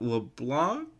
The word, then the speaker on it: LeBlanc: It was Ed with Matt LeBlanc. That's how you say his name, from Friends.